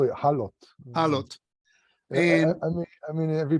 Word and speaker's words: HALOT: How do you pronounce it? Halot? We call it halot.